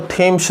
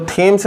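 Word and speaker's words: Thames: तो थेम्स नदी, या कई बुक्स में या आप पढ़ेंगे तो कुछ लोग टेम्स भी प्रोनाउंसिएशन करते हैं, बातें की है।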